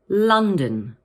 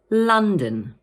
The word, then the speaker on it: London: And in the second part of the word, the O is pronounced as a schwa, like this, dun. So in full, we say London. Let's say that again. London.